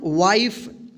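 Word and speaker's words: wife: तो देखिए यहाँ पे इस ई का उच्चारण नहीं होगा तो इसको क्या पढ़ेंगे हम वाइफ, एल आई एफ ई, लाइफ, इसको लिफे नहीं पढ़ेंगे।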